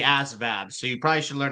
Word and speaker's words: ASVAB: now you're triggering me it's not the ASAP it's the ASVAB so you probably should